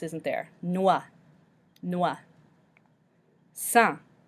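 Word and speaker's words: sans: isn't there Noah Noah son we don't pronounce the S at the end so we just pronounce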